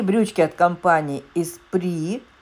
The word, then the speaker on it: Esprit: И брючки от компании Espri. Меня часто поправляют, говорят Esprit. Нет, Espri. В соответствии с правилами английского языка название Esprit читается как Espri.